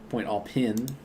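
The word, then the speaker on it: Pointe aux Pins: Point all pin. That's how it's pronounced.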